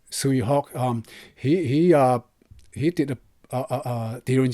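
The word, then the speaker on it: Tsui Hark: Like I said earlier, I think it's in Cantonese Toy Hack. I think that's how it's pronounced his name. But it's in English is Sui Hawk.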